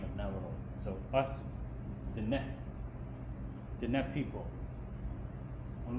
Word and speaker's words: Navajo: So us, Diné people, when we spell Navajo, it's supposed to be with H because H is H. But the J, as I mentioned earlier, that we don't use currently for pronunciation of the H sound.